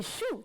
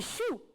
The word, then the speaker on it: choux: Des choux, très bien, on n'entend pas. Des choux.